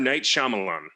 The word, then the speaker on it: Night Shyamalan: I'm not even sure what the M stands for, so maybe it's really hard to pronounce. Mr. Night Shyamalan.